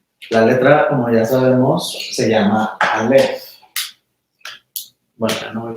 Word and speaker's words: Aleph: Entonces, Aleph es silencio, no tiene sonido. Es una consonante que indica silencio. Es totalmente muda. Y luego la vocal que acompaña a silencio es A, por eso nada más pronunciamos A. Pero A no es la letra Aleph como tal.